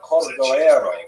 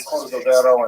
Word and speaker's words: Cordovero: his Matseva, his gravestone, it's Cordoero. It's a Portuguese spelling, but it's kind of a strange thing to pronounce in Hebrew, so it was sort of mangled into Cordovero, and that has become the standard, even though it's probably not correct.